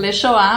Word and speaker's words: Les Choix: um pouco difícil, porque como é em francês, a grafia dele não tem nada a ver com a pronúncia, né? Com a pronúncia. Então, Lechoá, mas se escreve de outro jeito.